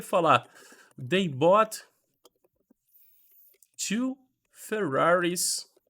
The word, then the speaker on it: Ferrari: Por exemplo, se eu chegar e falar They bought two Ferraris, e sim, gente, em inglês é Ferrari mesmo, desse jeitinho, last week.